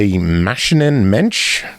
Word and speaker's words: Maschinen-Mensch: Next up, Mother Machine, developed and published by Maschinen-Mensch.